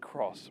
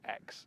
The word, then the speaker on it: Aygo X: and just so we're clear that cross is pronounced cross rather than x somewhat confusingly you might notice that the proportions